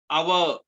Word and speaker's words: hour: Now similarly other words like our, HOUR, hour is not that, our.